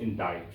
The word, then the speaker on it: indict: This word is actually pronounced indict. Okay? I-N-D-I-C-T.